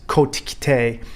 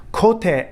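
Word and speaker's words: 小手: weichiroo practice of kote now you hear this mispronounced all over the united states and all over the world is kotikite or some variation thereof kote in japanese is the forum kote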